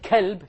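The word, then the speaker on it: كلب: From, if you change to a kaf, you become from a heart to a dog, right? Qalb means what? Heart. And kalb means dog. So if you mispronounce these letters, you're going to change the entire meaning.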